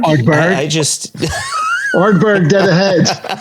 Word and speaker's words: Ardbeg: this, he's the global ambassador for Glenmorangie and Ardbeg. Among so many other things. Or is it this? Oh dear. Is it Ardbeg? Ardbeg.